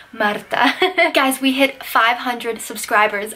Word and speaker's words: Marta: if you're new here my name is Marta but if you can roll your R's then you can say madatha guys we hit 500